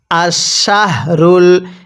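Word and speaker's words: الشهر: তাহলে আমার সাথে পড়ুন আশশাহরুল হ্যাঁ পড়ুন আশশাহরুল এই হাটা উচ্চারণের সময় গলার মধ্যে আওয়াজ করব পড়ুন আশশাহরুল এরপরে আশশাহরুল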